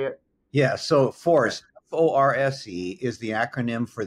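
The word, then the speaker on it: FORSE: So FORCE, F-O-R-S-E, is the acronym for the Foundation for Recovery Science and Education.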